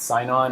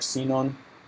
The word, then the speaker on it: Sinon: it's pronounced differently but some people pronounce it sign-on or sinon and it's a way